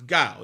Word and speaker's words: Guile: It's Guile. You know, while he's Guile over there, even before he went as Guile, the minute Seth Rollins defeated CM Punk the